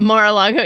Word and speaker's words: Mar-a-Lago: mar-a-lago did i say it right that's it mar-a-lago yeah yeah mar-a-lago that's one yesterday i was